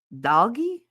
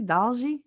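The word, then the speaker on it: 딸기: Um, Vice Vice Baby said, "Yoda and doggy." Is that how you say it? Doggy. Dalgi.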